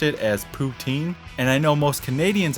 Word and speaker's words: poutine: the correct pronunciation is put zinn i don't remember exactly if that was correct or not but it was something like they were trying to sneak in a hard s or z in there put sin put zen